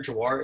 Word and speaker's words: Jhawar: For the judge's reference, that's Senator Jhawar.